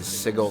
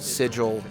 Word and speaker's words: sigil: cover sigil magic uh I've heard it pronounced a couple way sigle sigil cinos magic which are